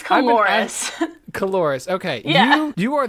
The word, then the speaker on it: Coulouris: It's Coulouris.